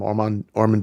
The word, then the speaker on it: Ormond: Am I pronouncing it correctly? Ormond, yeah.